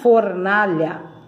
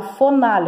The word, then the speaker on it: fornalha: Fornalha. Vamos lá, então tá na fornalha. For, primeira sílaba é F-O-R. Eu não falo fonalha, eu falo fornalha. Então, é o F-O e o R junto, ó, tá vendo?